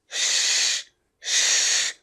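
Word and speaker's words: she: और ये है श, ऊपर की तरफ, जीभ ऊपर की तरफ। तो ये आपको ध्यान रखना है, इसे बोलना है आपको शी, शी is beautiful, शी is beautiful, शी। और ये है सी, सी दैट, सी, ये वाला।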